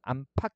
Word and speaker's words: 안팎: 안 더하기 박 같은 경우에 어떻게 해요? 히읗소리 덧나서 안팎 이렇게 되는 거고요.